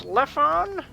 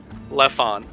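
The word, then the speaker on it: Lephon: ah my name is leffon uh elephant entity okay rakes how the hell do you spell that doing it phonetically l-e-p-h-o-n left on yeah what was the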